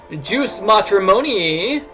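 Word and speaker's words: jus matrimonii: That's how you're supposed to pronounce that word. I've never heard anybody pronounce that word correctly. It's Latin. And so, that joke just falls flat on most people. Anyway, use sounds like juice.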